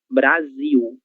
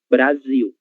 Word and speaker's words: Brasil: Então, letras Ls, em final de sílaba terão som de U. Ok? Então, 1000. É por isso que a palavra Brasil em português se pronúncia Brasil. Brasil.